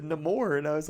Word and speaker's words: Namor: He said Namor, and I was like, Namor?